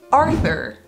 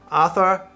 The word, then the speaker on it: Arthur: have on this list Arthur oh that's good one ah - uh I - uh yeah the th goes away and the Ottawa wasn't